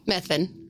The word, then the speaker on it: Methvin: So Henry, how's it pronounced, Zach? Henry Hamer? No. Methvin.